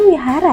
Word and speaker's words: Vihara: bukannya yang panjang Bu tulisannya Vihara bacanya Wihara sih setahu saya selama ini kalau pelafalan biasanya Wihara Mas Setahu saya gitu